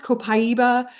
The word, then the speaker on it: copaiba: Um, our copyra cop it's pronounced copaiba and I use it if I have mental stress or strain.